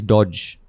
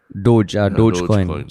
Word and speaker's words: Dogecoin: So according to the Wall Street Journal, it's pronounced as DOHJ coin. So it is Doge. There's Doge. Dogecoin.